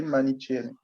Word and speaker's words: manichéenne: Donc, la deuxième mentalité à éradiquer, c'est la pensée manichéenne. La pensée manichéenne. Bon, ni manichéenne, manichéenne, je ne sais pas. Ça s'écrit M-A-N-I-C-H-E-E-N-N-E.